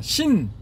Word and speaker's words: 心: 그냥 우리가 그걸 가르쳐서 한글로는 마음이라 하고 중국어로는 신, 마음 심자 써서 신 발음이 신이거든요.